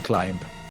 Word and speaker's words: climb: up and go home the be is silent even in climb oh all right all